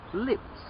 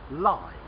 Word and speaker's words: lives: that also limps okay he lives from the verb to live but they say that a cat has nine lives the plural of a life l-i-f-e plural l-i-v-e-s so a cat has nine lives he lives in that house let's try another one